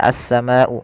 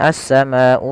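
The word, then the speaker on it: السماء: kata, pada lafal kata as-sama'u. Maka kita wajib membacanya sepanjang 4 atau 5 harakat. Jangan dikurangi, misalkan as-sama'u fakana, kurang. Itu kurang tepat.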